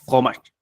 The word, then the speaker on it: fromage: También empieza con Fro, solamente se pronuncia fromage.